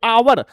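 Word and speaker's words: hour: क्योंकि इसका एच जो है वो साइलेंट है और हम लोग ओ ओ पढ़ते हैं आगे। आवर बड़ा आगे आवर इसलिए एन भरेंगे।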